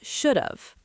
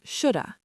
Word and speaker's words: should've: In fast, casual conversation, native speakers drop the V sound entirely. Should've turns into shoulda. Shoulda, like I shoulda gone to bed. Yes, shoulda. It sounds like SHOULDA.